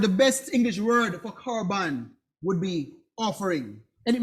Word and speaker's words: korban: It's pronounced korban. It sounds like a K, and it means oblation, offering.